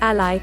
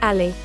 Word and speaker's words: Alli: Can Alli help you lose weight?